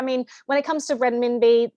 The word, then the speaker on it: renminbi: in fact one-to-one with when I can never pronounce that it's renminbi so even they're not I mean can we